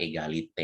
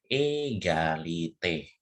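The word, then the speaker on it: égalité: Makanya ya itu cara bacanya adalah egalite ya di sini egalite ya ini kalau misalnya ke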